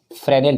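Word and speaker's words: Fresnel: फ्रेस्नेल, S silent है, फ्रेनेल पढ़ते इसको, फ्रेनेल।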